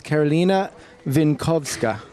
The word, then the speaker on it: Karolina Winkowska: So actually, people were hassling me because I wasn't pronouncing your name right. So now I've got it down. It's Karolina Winkowska.